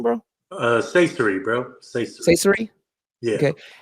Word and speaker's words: Saysiry: do you say your last name bro uh CER bro CER CER yeah okay and you can